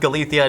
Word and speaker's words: Galicia: Mostly in the northwest, you have Galathia. Yes, it is pronounced Galathia.